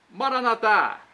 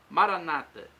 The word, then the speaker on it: Maranata: Jesus para o português Maranata vinde Senhor Jesus pronúncia católica com a tônica na última sílaba nossos irmãos separados os evangélicos ou protestantes colocam a tônica na penúltima sílaba Maranata não importa o significado